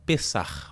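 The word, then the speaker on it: פסח: A palavra Páscoa é originalmente uma palavra hebraica que tem como pronúncia Pessah, ao meu hebraico aqui, e significa literalmente passagem.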